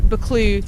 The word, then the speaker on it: Buccleuch: So as we just said, Buccleuch. Buccleuch. That is how you say it, guys. From a true Scottish person, it is Buccleuch.